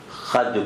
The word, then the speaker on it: خود: اچھا یہاں خود کو قافیے کی رعایت سے خد پڑھا جائے گا. تلفظ خود ہے لیکن بد کا قافیہ ہے نا یہ، تو اس کو خد پڑھا جائے گا.